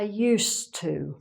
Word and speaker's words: used to: When you say: "I used to". So, again, we've got the "ss" sound, not "z". "Used to". We also don't really pronounce the "d" much.